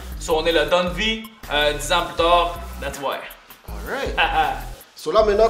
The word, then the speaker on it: Don Vi: des noms possible what c'était fini de deux syllabes donne vie tout le monde comprend avec le i pour faire plus francophone on est la donne vie 10 ans plus tard